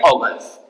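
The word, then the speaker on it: Huygens: इसे प्रोनाउंस करते हैं ऑर्गन्स।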